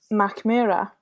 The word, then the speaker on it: Mackmyra: You said it already, and it's Mackmyra Inn. Yeah, well done. Oh. Jaktlika? Yeah, well done. I mean, we have it here, the Mackmyra Jaktlika.